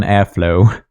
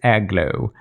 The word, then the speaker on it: Airglow: I hope I correctly called the name Golden Airglow, because I feel like I constantly mispronounce it as Golden Airflow, but it's Airglow.